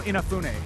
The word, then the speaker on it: Inafune: I always say his name wrong, Keiji. I just know Inafune.